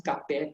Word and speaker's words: kapal: Yeah, now words with ending with AL, AR, and AS. These words are pronounced with an S sound. Yeah, so kapal becomes kape to us. It's like, we'll say kape terbang and not kapal terbang. Yeah. Besar becomes besar, panas becomes pane.